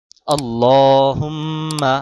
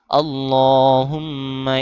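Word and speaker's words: اللهم: আল্লাহুম্মা আল্লাহ ল তে মোটা করতে হবে। আর এক আলিফ টান দিতে হবে।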